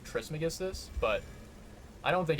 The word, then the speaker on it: Trismegistus: I feel like there might be a different pronunciation of that, where they say Trimegistus instead of Trismegistus, but I don't think it's, like, that crazy important.